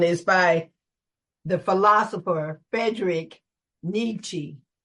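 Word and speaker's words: Nietzsche: by the philosopher Frederick nii some people pronounce it nincha he famously stated I'm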